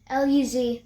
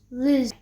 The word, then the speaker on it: Luz: That's how you say it in Spanish. L-U-Z. Yeah, Luz. You say it Luz. Luz. So you say it Luz in Spanish, and that means light.